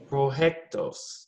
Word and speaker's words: proyectos: Proyectos. Not with a J, Esteban, with a Y. Proyectos.